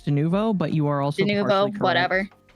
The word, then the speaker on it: Denuvo: And also, the Enzoy makers um, got rid of Denovo or however the you pronounce it from their game as well after uh, player feedback. I think it's Denuvo, but you are also whatever.